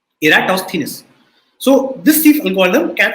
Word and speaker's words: Eratosthenes: sieve of eratosthenes and this is how you pronounce the name you say era toss okay eratosthenes so this thief algorithm